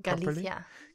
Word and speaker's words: Galicia: Galicia.